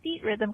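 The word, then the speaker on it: Theatrhythm: I am just calling to tell Ray that he pronounces Final Fantasy Feet Rhythm correctly, because we just looked it up, and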